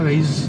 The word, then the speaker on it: Raize: Ada Toyota Raize dan Raize apa Raize? Bacanya ya itulah. Kayak You Raise Me Up gitu aja.